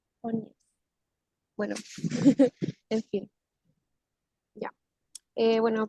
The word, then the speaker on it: Tönnies: Bueno, eso es como sería finalmente como la materia de Durkheim, que después ya empecé con Tonies, Tonies, ¿cómo se pronuncia? Tonies.